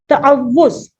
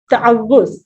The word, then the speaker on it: تعوذ: سب سے پہلے تو اس کو آپ نے بہت اچھے تلفظ کے ساتھ بولنا ہے, پروناؤنس کرنا ہے بالکل درست. آپ نے کیا کہنا ہے اس کو؟ تعوذ. تعوذ. ٹھیک ہے, واو کے اوپر تشدید بھی ہے اور پیش بھی ہے.